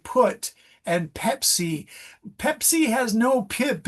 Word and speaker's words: Pepsi: speakers are really going to hear that it's mispronounced. My classic example is, may I have a Pepsi? I'm really thirsty, a Pepsi Cola. But if you say, may I have a Bepsi?